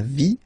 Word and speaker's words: vie: And then when they're ending with ie, like here, okay, so basically you don't pronounce the okay, so it will be only the sound i, okay, for instance, la vie, life, okay, la partie,